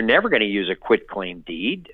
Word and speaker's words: quitclaim: going to use a quitclaim deed a lot of people mispronounce it as a quick claim deed like it's easy to